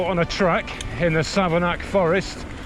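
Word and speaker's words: Savernake: go Sava nake Forest n-a-k-e bake make sake Lake take but apparently it's Sava knack all right so that's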